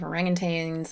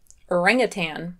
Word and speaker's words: orangutan: you were a baby orangutan orangutan orangutan well that sounds wrong ever since orangutan entered english people have tended to pronounce it by rhyming the second and last syllables in some european languages